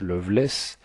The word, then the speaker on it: Lovelace: l'inconnu s'appelait Fanny Lovelace ce nom qui se prononce Loveless appartient à deux vieilles